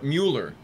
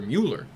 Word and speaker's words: Mueller: of its co-creator, Walter Mueller. You know that's pronounced with a V because of the umlaut.